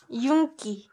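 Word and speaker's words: 윤기: this word as well this one is also just like inky pronounced yunki yunki and i know that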